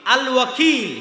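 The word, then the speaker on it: الوكيل: উকিল তো আল্লাহ বলছে আমি উকিল আল ওয়াকিল শুদ্ধ উচ্চারণ আল্লাহ সুবহানাতায়ালার একটা নাম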